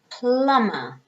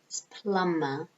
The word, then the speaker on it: plumber: sleigh we've got drama plumber notice you don't pronounce the b is silent okay so no B plumber what does a plumber